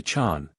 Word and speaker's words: Jean: and have called himself Gene Matthew he goes to ovia the local pronunciation turns jean into Chan he is called Chan